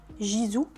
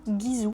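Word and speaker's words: Gisou: avez envie de prononcer Jizou faites-le il y a pas de souci mais sachez que ça se prononce bien guizou parce que ça je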